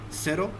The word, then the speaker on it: cero: So the next point is Z is pronounced as S. It is similar to S sound in Spanish. So for example, this is cero. Okay, cero. CE, you have already seen CE is pronounced as se. Okay.